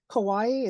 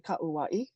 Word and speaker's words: Kauai: you you would say and Kawaii is actually kauaii okay that's how you would say that so very good all